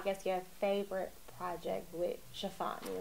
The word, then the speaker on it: Tiffany: Chiffani.